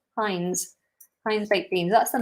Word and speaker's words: Heinz: Is it Heinz with an S on the end? Or is it just Heinz with a Z? Heinz.